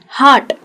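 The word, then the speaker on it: heart: Dark, हार्ट, हम लोग यहाँ पे कई लोग हार्ट को बहुत गलत प्रोनाउंस करते हैं, हम हार्ट कहते हैं जहाँ आर बहुत ज़्यादा होता है, हार्ट भी कहते हैं कई लोग, अलग अलग जगह से होते हैं इसलिए प्रोनाउंसिएशन चेंज हो जाता है, लेकिन ये ध्यान रखना है कि इसको कहते हैं हार्ट।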